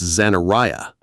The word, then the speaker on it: Zanariah: Say it right, it's Zanariah.